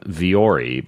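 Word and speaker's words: Vuori: of this stuff from viore but it's spelled vuo RI and one of those weird spell and pronounce companies but you go to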